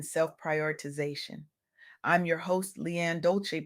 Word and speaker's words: Dolce: I'm your host Lianne Dolci, pronounced dol-o-say, like sweet softness whispered in French, and I'm your guide